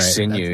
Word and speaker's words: sinew: Sinew.